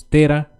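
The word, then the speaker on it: térã: quer dizer ou terá tá vendo que tem aqui o acento então falamos Tera e aqui temos a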